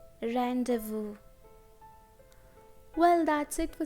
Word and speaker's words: rendezvous: There aren't many words in English with silent Z. There are only two words, laissez-faire, rendezvous. laissez-faire, rendezvous.